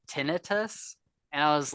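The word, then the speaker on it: tinnitus: in some places but I've always heard it pronounced tenius and he called it tinitus and I was like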